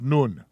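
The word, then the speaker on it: נון: and noin is in an up none that's pronounced noon we going too fast none none that's how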